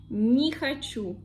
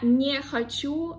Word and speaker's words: не хочу: If this one is unstressed, we pronounce it like E. For example, не хочу, не хочу.